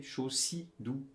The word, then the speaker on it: Chaussidou: ben non, même pas Chaussidou, ça s'écrit avec un C. C-H-A-U-C, Chaussidou.